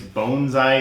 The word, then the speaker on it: bonsai: is the the uh I think it's bonesy is the I'm probably still butchering I think that's the a closer pronunciation bone means tray and